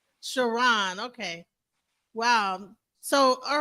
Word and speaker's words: Chron: like it looks like K but it's it's pronounced shiron shiron okay wow so all right so you went